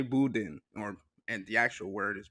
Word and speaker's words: boudin: For reference, in France, it is said as boudin.